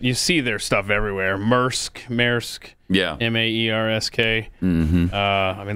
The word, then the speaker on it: Maersk: So the company, I don't know how you pronounce it. You see their stuff everywhere. Maersk.